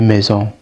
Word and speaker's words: maisons: You don't pronounce the S. You would need les maisons or des maisons to denote that it's plural according to ear.